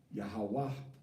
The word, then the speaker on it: Yahweh: Yahweh ends with a ha'a.